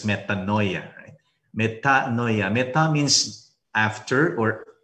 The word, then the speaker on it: metanoia: In Greek, we have this word, metanoia, which we pronounce in English as metanoia.